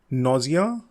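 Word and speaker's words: nausea: Next word जो है इसको दो तरह से प्रोनाउंस करते हैं, नोजिया या नौजा.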